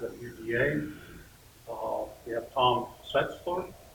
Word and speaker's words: Schaetzel: We have Tom Schaetzel. It rhymes with pretzel.